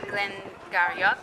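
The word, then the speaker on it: Glen Garioch: the words this is why some people in Scotland will say Glenn garak and then other will say Glen G yeah right I mean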